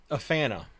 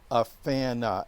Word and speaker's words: AFANA: you set you founded a fana and and that's you pronounce it that rather than afan a correct we pronounce it a fan uh and that's and that's deliberate okay very deliberate a fan uh oh